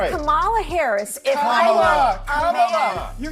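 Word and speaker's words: Kamala: First, you say comma like a comma sentence. Then you say la like la.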